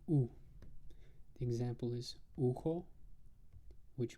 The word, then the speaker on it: У: one but that's okay this thing that looks like a y is actually pronounced U the example is uko